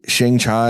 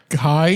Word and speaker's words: Shang-Chi: Shang-Chi and the Legends of the Ten Rings. Shang-Chi. Shang-Chi, sorry. Shang-Chi and the You say Legends of the Shanghai?